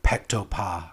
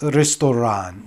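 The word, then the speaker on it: ресторан: And I think the natural guess for an English speaker would be like pektopa or something like that. But really, it's restoran, which is the Russian word for restaurant, and written in the Russian Cyrillic alphabet.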